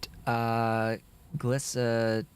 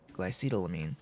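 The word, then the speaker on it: glycidylamine: Next, we need glycodylamine. Glycodylamine? Glycetylamine. Glycetyl! That's the pronunciation.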